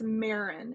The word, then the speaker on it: Maren: me an email Ariel my name is Marin it rhymes with Karen it's m a r e n and it actually means